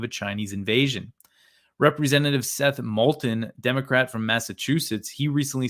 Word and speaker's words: Moulton: So when asked about Moulton's comments, I pronounced his name wrong. Seth Moulton.